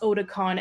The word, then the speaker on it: Otacon: The fact that Otacon is pronounced Otakon and about Japanese animes.